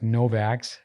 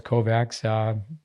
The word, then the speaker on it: Kovacs: I've said Mark Novaks. I know it's Kovacs.